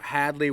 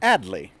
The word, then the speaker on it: Hadley: that atfield and oio so Hadley would become adley and South Hadley would be South adley it's not just towns forties